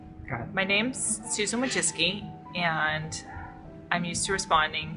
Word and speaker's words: Wojcicki: But it's Wojcicki, and it's Polish, and that's my name. It's actually not that hard to say. It just looks hard when you see the spelling.